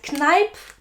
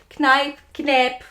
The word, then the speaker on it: Kneipp: It is from the brand Kneipp. Not sure if you pronounce it that way. Kneipp, whatever.